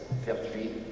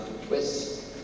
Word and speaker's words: Pertwee: The name is P-E-R-T-H-U-I-S, Pertwee. The illiterate English would pronounce it Pertwis, and so we duly changed to P-E-R-T-W-W-E, and the English then called me Pertwee, or Petwit, Parsnip, Pee-wee.